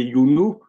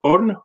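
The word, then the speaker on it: Iounou: Mais en égyptien, il y avait un autre nom, certains vont prononcer Younou, mais le mot se prononce On et qui signifie aussi le pilier.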